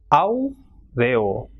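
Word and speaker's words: áureo: Same way, when the two vowels A and U are coming together, that is A is strong vowel and U is a weak vowel, it will be pronounced as aureo. So strong vowel will be stressed more and weak vowel will not be, so it will be aureo.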